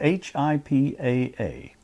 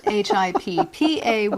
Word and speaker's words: HIPAA: HIPAA. Correct. Not HIPPA, which is how I usually misspell it.